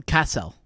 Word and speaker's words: Cassell: This is Cassell. Hello, Mr. Cassell. Not so Castle.